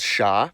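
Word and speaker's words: ш: with just one letter it's called sha it's used in every cerillic script language and as you can guess it sounds like sh other interjections like oh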